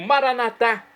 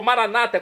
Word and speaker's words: maranatá: E agora eu clamo maranatá, como dizemos nós católicos, ou maranata, como dizem nossos irmãos separados das comunidades evangélicas ou protestantes. Não importa a pronúncia, o significado é o mesmo.